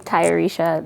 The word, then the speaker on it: Tayarisha: I have a name, Tayarisha, that a lot of people tend to mispronounce, which is partially why I named Selah Selah.